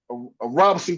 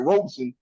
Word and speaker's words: Robeson: It's gonna be a Robinson County showdown, man. Or I ain't saying it right, Robeson.